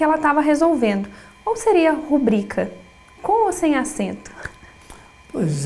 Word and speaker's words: rubrica: né, estudadas, que diz que vai fazer uma rúbrica. De verdade, está completamente equivocado. Essa palavra não é proparoxítona, porque veja, quando se pronuncia rúbrica, primeiro até fica mais difícil.